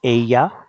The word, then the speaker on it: ella: In most parts of Spain, LL is pronounced like the English Y in yes. So Ella sounds like ella.